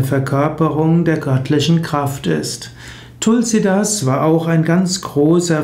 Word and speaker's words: Tulsidas: Tulasidasa wird meistens ausgesprochen Tulsidas. Das Sanskrit-Wort Tulasidasa wird in Indien verkürzt auf Tulsidas.